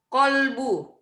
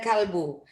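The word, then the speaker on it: قلب: Kolbu. Kolbu ini dari kof ya, bukan dari K. Kalau kaf itu baru huruf K. Kalau kof ini Q ya.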